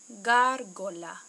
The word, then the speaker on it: gárgola: Sí, gárgola. Gárgola. Okay, two hard G's.